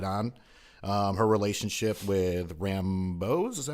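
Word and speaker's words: Rambeau: Her relationship with Rambos, is that how you say it?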